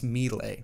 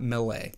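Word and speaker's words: Milei: Javier Millay. Javier Millay, meaning Javier Gerardo Millay, is an Argentine politician and economist. Economist. All right, that's my final answer. Javier Millay. Javier Millay. It's Millay, not Millay.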